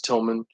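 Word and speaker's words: Tilmon: funny thing is like my last name is spelled TI l mo n told mom but it's tilman my granddad only made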